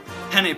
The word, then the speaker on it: penne: the board and I saw that it said penne pasta but I didn't know how to pronounce the word penne so I asked everyone what peen pasta was and in doing that it instantly